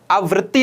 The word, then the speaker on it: आवृत्ति: दोनों के उच्चारण में भी फर्क है। वो है आवृत्ति, यह है आवर्ती।